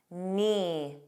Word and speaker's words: knee: Let's review words with a silent K: knee. You begin on that N.